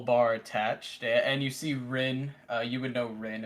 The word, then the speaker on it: Rin: with a small bar attached and you see Ren uh you would know Ren is the waitress